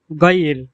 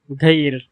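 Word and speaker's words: غيّر: এরপর গয়ির, বিশুদ্ধ আরবি ভাষায় গয়ির, গয়ির, গয়ির মানে রূপান্তর করো বা পরিবর্তন করো। আর আঞ্চলিক আরবি ভাষায় এর উচ্চারণ হলো ঘইর, ঘইর। এখানে গয়িনকে ঘ এর মতো উচ্চারণ করা হচ্ছে, ঘইর, ঘইর।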